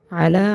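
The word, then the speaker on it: عَلَى: লু নাকু নাকলু আলা আইন উচ্চারিত হবে হলকের মাঝখান থেকে দুই নাম্বার মাখরাজ হলকের মাঝখান থেকে আইন উচ্চারণিত হবে। যেমন আ অনেকে এখানে আলা পড়ে। যদি আলা পড়ে তাহলে সহি শুদ্ধ হবে না। হলকের মধ্যখান থেকে উচ্চারণ করতে হবে।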